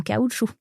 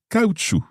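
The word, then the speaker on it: caoutchouc: avec des bottes en caoutchou with rubber boots. Cau. Ouais, c'est vrai. C'est amusant. Ouais, on prononce pas le C bizarrement mais on prononce le T par contre.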